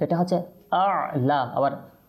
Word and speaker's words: أعلى: যাবে তো এটা হচ্ছে আলা আবার আ আপনি যদি অর্থাৎ প্রথমটাকে আপনি আইন করে ফেলেন তখন কিন্তু শুদ্ধভাবে উচ্চারণ করতে পারবেন না তো প্রথমটা হামজা আলা ঠিক আছে এভাবে করে আমরা উচ্চারণ